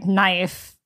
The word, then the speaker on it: knife: It's like how we can't explain why knife starts with the letter K. Exactly. And we don't pronounce it.